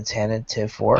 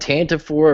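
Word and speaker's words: Tantive IV: do you say, the tentative 4? I've heard it called Tantive 4. I've heard it called Tantive 4. Tantive 4 is like, pronouncing all the letters in the word.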